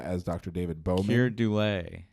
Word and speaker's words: Dullea: Keir Dullea. Dullea. I pronounce it as Dullea, yeah.